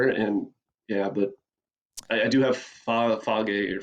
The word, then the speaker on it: Fage: And but I do have Fage or Faye, however you pronounce it, in my fridge now because they were out.